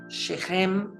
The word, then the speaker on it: Shechem: moradores da terra de Shechem seria a palavra, seria a pronúncia correta dessa cidade.